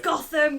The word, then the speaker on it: Gotham: what it's in Nottingham it's pronounced goam we go it's Gotham guys but Ernie Hudson's back